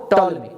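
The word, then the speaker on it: Ptolemy: टॉल्मी। आपको पीस में साइलेंट रहेगा, तो कई साल तक यही माना गया, लेकिन ये गलत था।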